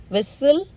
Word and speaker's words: whistle: Again, castle, Christmas, fasten, listen, often, whistle, bustle, hasten, soften, rapo, gourmet, ballet. Okay, now silent U.